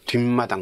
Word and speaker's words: 뒷마당: 안 들어가니까 뒤뜰 자 뒷마당 자 이때는 마당 미음 이거는 된 소리도 아니고 거센 소리도 아니에요 그니까 뒷마당 그럼 사 시옷 하죠 발음이 뒷마당 그러잖아요 자 그다음에 자취방 여기